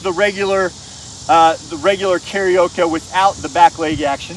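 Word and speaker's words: carioca: familiar with fun fact karao is spelled c a r i o CA not like the Japanese singing one and Lucas is going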